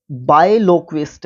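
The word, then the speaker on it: biloquist: बिलोक्विस्ट होता है बायलोक्विस्ट, अगर आप इसको प्रोनाउंस करोगे तो बड़ा अच्छा रहेगा।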